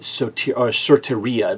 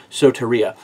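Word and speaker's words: σωτηρία: Right, soteria, maybe a better pronunciation, soteria.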